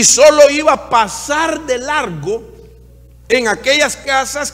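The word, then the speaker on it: פסח: es una palabra que del hebreo que se pronuncia pasa significa por lo menos tres cosas importantes una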